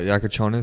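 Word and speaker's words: Jakučionis: Oh, Yakonis.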